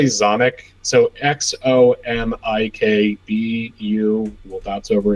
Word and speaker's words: Xomikbu: So like we just say Zomic.